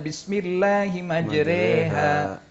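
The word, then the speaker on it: بسم الله مجراها: monyongkan mulut ya, atau tulisannya bismillahimajroha ya, tapi bacanya bismillahimajreha.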